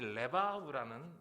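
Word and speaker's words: לבב: 중요한 것은 이제 이 마음, 이 레바브라는 이 단어죠. 마음. 키포인트는 레바브, 때로는 레브라고도 발음이 돼요.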